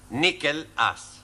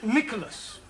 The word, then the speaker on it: Nicholas: upon a time there was a man called nickel us once upon a time there was a woman called nickel it's pronounced Nicholas so right once upon a time there was